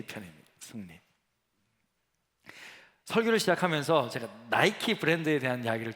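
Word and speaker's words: Nike: 꿨는데 우리 이름을 이렇게 니켈을 영어 식으로 발음하면 나이키가 되지 않습니까 그래서 나이키 로 하는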